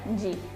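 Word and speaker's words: じ: Bueno, shi con tenten también será irregular y su pronunciación será ji.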